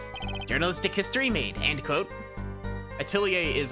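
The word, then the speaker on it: atelier: eight liar it's a it's a French word it's that does sound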